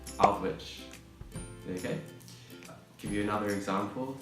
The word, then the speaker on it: Aldwych: And it's actually pronounced Aldwych.